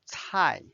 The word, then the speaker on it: 菜: Now let's learn 菜。菜 has two different meanings. Dish or vegetable. And cai is the fourth tone.